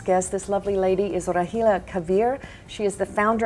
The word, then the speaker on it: Rahela: Give us the correct pronunciation. Okay, my name is Rahela Kaveer.